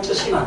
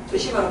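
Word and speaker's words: 쓰시마: 스시마 또는 쯔시마. 그죠? 쯔시마로 발음하죠. 그런데요.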